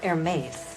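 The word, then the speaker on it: Hermès: in the case of Hermes you do not pronounce the H and you make the Xia very soft in the end Hermes your air mate Oh British Perez Perez Perez gomez fermez hotel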